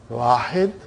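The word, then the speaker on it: واحد: The way they pronounce, it will be, they won't say Wahidun. They'll say Wahid.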